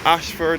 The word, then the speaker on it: Ayshford: the school now so this is back on Ashford long road as I said before this Ashford is spelt Airway s f Rd and this